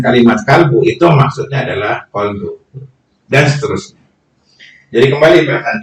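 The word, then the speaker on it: قلب: Nah ini juga penting karena banyak juga kita melapaskan kolbu itu kalbu, kof dengan kaf. Sebenarnya maksudnya adalah kolbu, cuman karena lapas pengejaan bahasa kita jadi kalbu.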